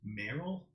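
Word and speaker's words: Merrell: newest pair is called I think it's pronounced meril but it's um m e r r l as I think how the brand is spelled the interesting about these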